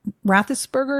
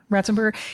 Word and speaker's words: Ratzenberger: I wasn't really looking for it because John Rathensperger, is that how you say his name? Ratzenberger.